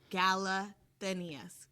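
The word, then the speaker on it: Galathynius: For our next show notes, I'm going to write you a pronunciation guideline. Galathinius.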